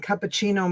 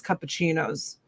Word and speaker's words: cappuccino: My husband uses it once in a while if he makes cappuccinos. Cappuccino. Cappuccino. Cappuccino. Americans say cappuccino, but it's cappuccino.